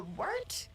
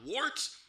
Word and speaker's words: Wort: The wort? Yeah, okay, I'll do that again. This is The Wort on Govs Radio. It is the Wort. Not wart, not fort, not short. The Wort.